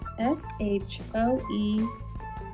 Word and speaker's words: shoe: h says sh say let's sound out this word shy that's how you sound it out but here's how you say it Sho Sho s h o e shoe that's a silly word